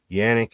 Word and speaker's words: Canik: Brown guns and drums and you can say Kanak organic Jannik is how it's pronounced but I'm not Turkish I'm American so